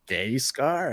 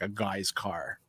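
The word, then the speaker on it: Gaizka: It was like, well, how do you say that? Gay scar, a gas car, or what is that? I'm like, it's pronounced like a guy's car.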